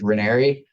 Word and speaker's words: Ranieri: last name it's it's hard to spell and pronounce it's renery everybody gets it wrong but it's r-a-n as